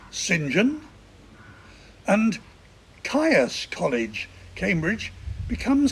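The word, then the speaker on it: St John: vorgan become Vaughn Saint John becomes Sinjin and tires College Cambridge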